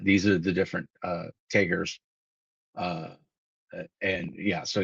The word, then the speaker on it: Tager: Uh your tager, the total health of your tager, uh tager tager. I pronounce it tager.